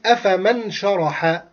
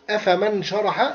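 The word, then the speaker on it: أفمن شرح: In the ordinary reading, we will say أفمن شرح. أفمن شرح. But for the Quran, if I say أَفَمَنْ شَرَحَ, wrong. I did mistake in تجويد. So I have to not pronounce the noon clearly. I will hide the noon in sheen.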